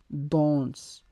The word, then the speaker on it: danse: So in English we say dance, but in French we say danse. D-A-N-S-E, danse.